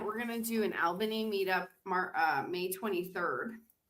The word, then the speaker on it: Albany: It's not all, but it's Albany, but but but you're right. It's You pronounce it all.